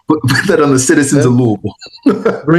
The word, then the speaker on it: Louisville: Well, the good the good news is you're actually pronouncing Louisville the correct way. A lot of people never been, well, I'm going to Louisville. Like, well, don't say that there. Just call it Louisville.